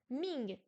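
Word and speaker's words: 名: Ming, deuxième ton, prénom.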